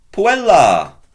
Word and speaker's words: puella: For a first declension noun, it's going to be a long A, puella, plural, puellis. So if we said, for instance, with the girl, what's that? Cum puella. Elongate your final syllable.